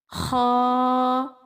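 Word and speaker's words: خ: Kha is pronounced from the upper part of throat. Throat has 3 parts: upper, middle and lower. And this Kha pronounced from upper part of throat or khalaq.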